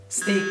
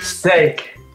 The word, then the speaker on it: steak: So for example, when you're a vegetarian, you don't eat steak. Steak.